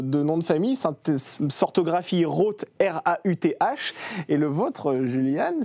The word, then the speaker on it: Rauth: Donc j'ai mis AU pour que les gens prononcent Roth.